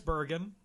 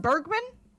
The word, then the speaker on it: Bergen: though she was always the top choice, Candace Bergen, Natalie Wood. Is that pronounced Bergman?